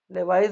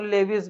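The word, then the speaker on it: Lewis: लेवाइस भी pronunciation करते हैं कोई कोई, और लेविस भी करते हैं, दोनों सही हैं।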